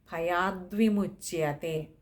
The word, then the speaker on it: ഭയാദ്വിമുച്യതേ: വിസർഗം ഉണ്ട് പിന്നെ ഭയാദ്വിമുച്യതേ അവിടെ ഭയാത് വിമുച്തയാണ് പക്ഷേ അത് പദം പിരിക്കേണ്ടതില്ല പകരം ദ്വ എന്നുള്ളത് അങ്ങനെ തന്നെ വായിക്കുന്നതാണ് ഉത്തമമായിട്ടുള്ളത് ഭയാദ്വിമുച്തേ ഇത് ഇത്രയും കാര്യങ്ങളാണ് ആ